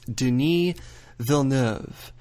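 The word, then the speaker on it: Denis Villeneuve: this one more time it's Deni vov Den say it fast Den V so that is your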